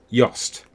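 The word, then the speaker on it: Jost: It's one of those things where I've got the name of the cinematographer, and I'm just trying to remember how it's pronounced. Yost.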